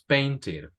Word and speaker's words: painted: Okay, so repito, si hay una D o una T antes de la ED, sí pronunciamos esa E. Si no hay una T o una D, como por ejemplo aquí esto es una N, this is a W, this is a K, this is a K. En estos casos no pronunciamos la E.